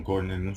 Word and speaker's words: Ghosn: Em francês eles falam Ghosn, eles não pronunciam esse S, mas a gente fala Carlos Ghosn, Ghosn, salvo engano que se escreve, em que ele está preso no Japão, né?